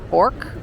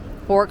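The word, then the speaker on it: Bourke: Right now I'm on the corner of Elizabeth Street and I think it's pronounced Bork Street.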